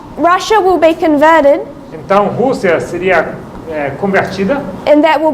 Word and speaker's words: Rússia: é Rússia. R-U-S-S-I-A. With an accent on the U.